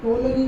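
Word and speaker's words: Ptolemy: टोलनी मैं बोल रहा हूँ पर पी साइलेंट होता है, तो इसका नाम है टोलनी।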